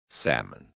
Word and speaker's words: salmon: Silent L. Silent L is super sneaky. Walk. Walk. Walk. Talk. Talk. Talk. Come. Come. Come. Half chalk. Chalk. Chalk. Salmon. Salmon. Salmon. Just pretend the L is on vacation.